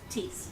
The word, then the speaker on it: Tice: I apologize if I mispronounced your name. Tease.